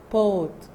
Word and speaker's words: bought: Number 7, buy, will be, bought. Bought. And focus, GH is silent.